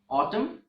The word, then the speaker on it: autumn: example mnemonic device and there are a few words that end with MN but in these words the letter n is silent for example autumn column damn him so